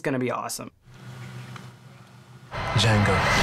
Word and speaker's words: Django: it's gonna be awesome Django the D is silent yeah I'll be curious how Jengo and Shane does because